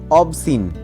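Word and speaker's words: obscene: কাউকে মোহিত করা বা মুগ্ধ করা নেক্সট ওয়ার্ড অবসিন অবসিন কথার অর্থ হচ্ছে অশ্লীল বা অশোভন মানে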